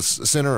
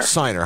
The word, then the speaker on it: Siner: Now, how do you say Howard's name? Is it Sinner or Siner? Siner. Howard Siner.